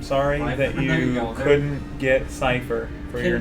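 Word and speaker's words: Seifer: So, how are you supposed to pronounce his freaking name in Final Fantasy 8? Cipher. Cipher. It is Cipher.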